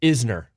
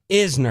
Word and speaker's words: Isner: me about it no most people get it wrong it's uh it's Isner Isner not eer yeah and that is